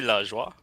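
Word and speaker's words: Lajoie: It should just be La Joie. Like La Joie? Joie. So La Joie.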